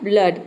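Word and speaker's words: blood: pronounce करेंगे ठीक है डबल ओ को यहां पे अ प्रोनाउंस किया जा रहा है और डी का हो जाएगा यहां पे ड तो इसका प्रोनंसिएशन बनता है ब्लड ठीक है ब्लड का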